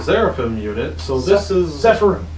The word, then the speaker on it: Zephyrim: So this is Zephyrim. Say them right. Everybody online says them wrong. They're not Seraphim. They're not Seraphim. I don't know why I said Seraphim. They're Zephyrim. Zephyrim.